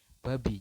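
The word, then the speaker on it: 밥이: Jadi yang kanan adalah cara bacanya, Anda adalah membacanya babi. Jadi si biopnya ini, si iyangnya ini hilang, kemudian biopnya naik ke atas di samping i dan menjadi bunyi awal.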